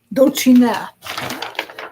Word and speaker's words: Dulcina: Dulcina. The accent is on the end.